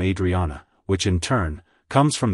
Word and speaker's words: Adrienne: Adrien it's pronounced as Adrien Adrien Adrian to pronounce it correctly emphasize the I sound at the beginning followed by a soft Dre and ending with a clear n like hello Adrien goodbye